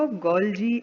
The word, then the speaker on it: Golgi: कैसे pronounce करते हैं इसको? Golgi apparatus.